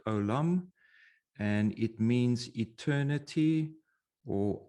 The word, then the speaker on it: עוֹלָם: the hebrew word alum so this is how you spell it in english or pronounce it alum and it means eternity